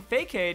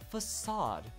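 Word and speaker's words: façade: idiot that was also saying fake aid as well and then there's also people that don't believe you it's like no facade that sounds like a stupid way it's fake aid I know people my twenties that are still pronouncing it fake aid I don't know if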